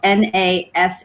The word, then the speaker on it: Nashik: piece of property that his father owned in nashik so that's where these wines are from you'll see it's spelled a couple different ways you'll see it spelled n-a-s-h-i-k and then also n-a-s-i-k but it's pronounced nashik india um it's located on the